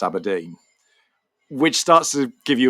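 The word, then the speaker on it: abrdn: um which when they launched they had to spell out it's pronounced abodine which starts to give you a bit of a sense this might be a problem for them.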